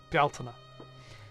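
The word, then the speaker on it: Bealtaine: She rules from sin to beltina because that's how that's pronounced. Beltina.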